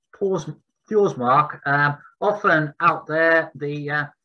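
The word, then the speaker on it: Þórsmörk: Often out there, if you see a P, it's not a P in Icelandic, but it's pronounced as a TH. So when you see it in the map, it will be Fjordsmark, but it's actually Fjordsmark.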